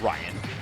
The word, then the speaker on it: Raiyihn: been going crazy with it how do you pronounce the snake's name uh Ryan oh oh just yeah just spelling all right